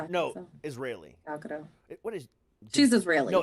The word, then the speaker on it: Gal Gadot: Gal Gadot. What is? She's Israeli. No, it's You're Gadot. right. It's Gadot. Yeah, you Pretty say sure it's Gadot. no. You pronounce the T.